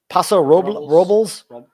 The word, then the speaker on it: Paso Robles: How do you pronounce that? Paso Robles.